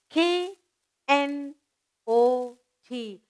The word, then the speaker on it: knot: Again, K is silent, spelled knot when you're writing.